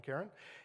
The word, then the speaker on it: Charon: It currently has 5 known moons, including Charon, which is pronounced various ways, Sharon, Karen, and that is a significant fraction of its size.